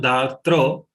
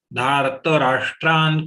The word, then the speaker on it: धार्तराष्ट्रान्: Dhartra, normally we make a mistake. We should not pronounce Dhartra. It is only Dharta. Dhartarashtran kapidvajah.